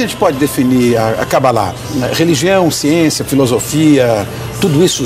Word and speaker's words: Cabalá: Bom, veja bem, se nós transliterarmos do original em hebraico, o nome correto é Cabalá com acento na última sílaba. Mas em português se costuma falar Cabala. Não é errado. Quer dizer, eu posso dizer Cabala que não estou incorrendo em erro.